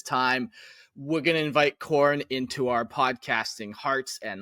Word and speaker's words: Khorne: Khorne. Yeah, I've heard of him. Spelled with a K. Oh, yeah, okay, yeah. Now we're talking. I thought you were talking about corn, wheat, crops.